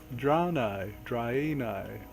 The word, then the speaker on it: Draenei: It's pronounced exactly like it looks. I don't see what's so hard. Draenei.